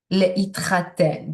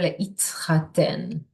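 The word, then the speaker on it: להתחתן: Le'itchaten, getting married. So you hear the t there, le'itchaten.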